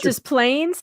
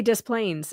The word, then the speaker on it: Des Plaines: How about Des Plaines? Yeah, Becky, we say Des Plaines in Illinois. I know that's not right, but that's how we say it.